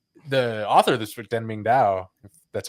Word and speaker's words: Deng Ming-Dao: this book, because the author of this book, Deng Ming-Dao, that's how you say his name.